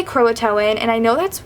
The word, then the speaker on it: Croatan: And there's a high school there called Croitan High School, which is spelled the exact same, but it's pronounced Croatan. So, whenever I hear them say Croatin, I'm like, this just does I cringe like it feels wrong, but I know it's right.